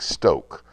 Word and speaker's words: STŌK: line over the oh that means pronounce the O long like Stoke as rhymes with smoke we don't usually use